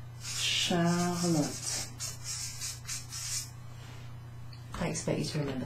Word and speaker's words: Charlotte: So, C and an H is pronounced sh. Sh, like Charlotte, which is me. Charlotte.